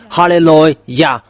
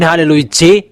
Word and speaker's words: hallelujah: to glorify that it means to glorify that halleluah there is no one was saying hallelujah you Good rank fans there people are saying it becomes hallelujah even in your bible saying halleluah and that is yah and the real name